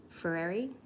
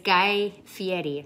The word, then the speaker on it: Guy Fieri: video and this recipe because it's a guy ferrari ferrara fiery fairy it's guy fieri that's how you say his name um it's